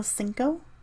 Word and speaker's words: CNCO: So cinco, yeah, that means 5 in Spanish, but it's not spelled as cinco. The number is spelled as CNCO.